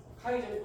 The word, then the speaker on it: 카이 제곱: 그래서 이거를 카이 제곱이라고 읽습니다. 이거를 카이 제곱. 읽을 때 이렇게 읽어요. 통계에서. 카이 제곱 검증식 유의점은 기본적으로 표본의 수가 많을수록 바람직해요.